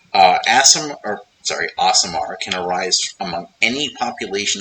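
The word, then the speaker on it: Aasimar: a very simple thing asamar apparently you're supposed to pronounce it asamar I've always pronounced it asamar I guess that made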